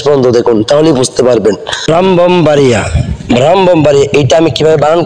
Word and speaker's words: ব্রাহ্মণবাড়িয়া: ব্রাহ্মণবাড়িয়া, ব্রাহ্মণবাড়িয়া এইখানে এই শব্দটির মধ্যে একটি যুক্ত বর্ণ রয়েছে। এই শব্দটি এই কি উচ্চারণ হবে, কিভাবে বানান করব সেটি আমরা বুঝতে পারছি না, একটু বুঝিয়ে বলবেন?